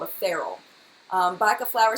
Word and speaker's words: ferrule: All right, it's called the ferrule. Okay, it's like Will Ferrell. That's how you pronounce it.